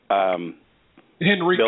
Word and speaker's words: Henrico: How's that pronounced? Henrico.